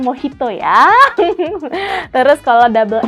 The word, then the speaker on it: Mojito: harus kita perhatikan contohnya huruf j dibaca jadi H Makanya kalau misalkan kita mau pesan Mojito itu bacanya mau Hito ya Terus kalau double